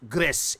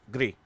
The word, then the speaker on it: Gris: It's not pronounced Gris. It's pronounced Gree. It is, I believe, French for gray.